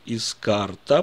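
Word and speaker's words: הזכרת: Слово искарта, обратите внимание, я произношу искарта, потому что она обращается к мужчине. Это же слово можно прочитать как искарт.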